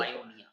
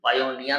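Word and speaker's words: pioneer: Maker, পাইওনিয়ার ও manufacture মানে কি বলে পাইওনিয়া, অগ্রদূত। এর উচ্চারণ কিন্তু পাইওনিয়ার নয়, পাইওনিয়া।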